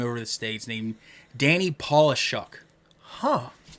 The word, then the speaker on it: Polishuk: the states named Danny paulishuck huh it's spelled like polish like Paul shock like polish was c-h-u-k at the end of it okay any polishuk and